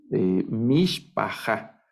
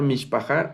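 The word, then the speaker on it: מִשְׁפָּחָה: leyendo ahorita este va mis paja es la lectura Miss paja verdad es de mis paja esta palabra mish paja significa familia en hebreo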